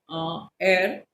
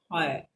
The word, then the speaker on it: heir: HEIR, he was that heir of that kingdom. Okay, उत्तराधिकारी जिसको आप बोलते हैं, the spelling is HEIR, pronounced as heir. Please pay attention towards this. Okay, don't pronounce it as higher, because he was the